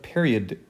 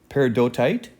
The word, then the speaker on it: peridotite: xenoliths are fragments of period I always say it wrong peridotite a rock that forms